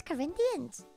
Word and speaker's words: Corinthians: I don't need you perfect pronunciation oh thank you it's Corinthians damn I'm so God,